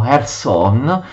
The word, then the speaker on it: Kherson: la capitale dei Khazari, Kherson che gli ucraini pronunciano Kherson, la capitale appunto del Khan dei Khazari.